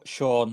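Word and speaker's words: Siôn: How do you pronounce that in Welsh? Sean.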